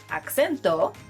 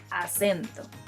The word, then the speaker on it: acento: I know the word in English and the word in Spanish look very similar, but they are pronounced differently. So instead of acento, say acento.